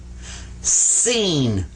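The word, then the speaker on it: سين: this one right here you smile when you say it seen but this one sawed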